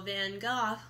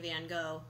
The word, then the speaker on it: Van Gogh: was talking about how van Gogh cool then girl I was saying it wrong i was saying van gogh but his van gogh might not be that